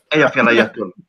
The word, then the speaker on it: Eyjafjallajökull: Eyjafjallajökull. Okay, clearly they're just... I think that's pronounced, I ain't even trying.